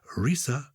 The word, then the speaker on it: Reesa: explanation love the podcast reesa rhymes with lisa and gareth in calgary